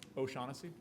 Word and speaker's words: O'Shaughnessy: back can you repeat your last name again O'Shaughnessy you want to spell it yes please oh apostrophe s-h-a-u-g-h-n-e-s-s-y thank you